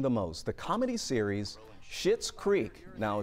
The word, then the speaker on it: Schitt's Creek: most, the comedy series Schitt's Creek. Now, it's not spelled the way it sounds, but that's how you say it, is the most watched show on Netflix in Georgia.